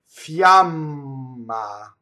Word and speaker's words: fiamma: So our Y's start from the E position in Italian, right? Fiamma.